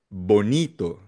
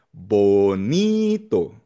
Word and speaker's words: bonito: Bonito. Bonito nasa ni second to the last syllable dahil nagtatapos sa o or vowel.